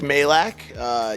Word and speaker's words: Majlak: of intro yourself absolutely yeah so I'm Mike Malik you nailed it you got it right and a lot of people have butchered that name over the years so that